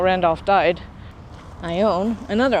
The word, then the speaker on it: Ione: Some people pronounce that Ione because I think there was an actress at one point, Ione Skye. But this is actually Ione because there's a town up yonder. Actually more that way. Ione in Amador County.